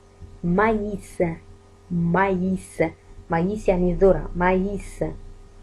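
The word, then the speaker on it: maïs: مثلا مايس عندنا M A I S، ما ننطقش ال A I كأي، لا، ننطقها كياء. مايس، مايس، مايس يعني ذرة، مايس.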